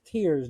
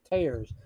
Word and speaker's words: Tears: has announced that it's it's pronounced tears not tares but they did say